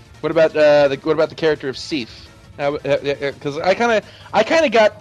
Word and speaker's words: Sif: Go watch Thor 1. That's how it's pronounced. It's pronounced Sif.